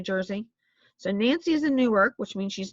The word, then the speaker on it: Newark: And by the way, it's Newark, not New York. There is an actual Newark. It's in New Jersey. So Nancy is in Newark, which means she's not in Liberty.